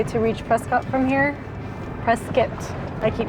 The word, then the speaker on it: Prescott: Preskitt, I keep mispronouncing it how long did you say to reach Prescott from here?